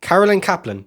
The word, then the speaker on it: Carolyn Kaplan: Carolyn Kaplan. Yeah, that's how you say her name.